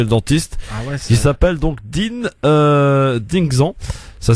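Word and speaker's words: Dynexan: On parle maintenant d'une crème anesthésiante en attendant le rendez-vous chez le dentiste, qui s'appelle donc Dingxan. Ça s'écrit D-Y-N-E-X-A-N.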